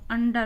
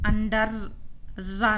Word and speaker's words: under: है, तो इसको हम अंडर पढ़ेंगे, अंडर। और रा का उच्चारण जब भी पीछे आता है तो हम बहुत कम करते हैं, तो अंडर रा नहीं बोलेंगे हम, है ना, अंडर।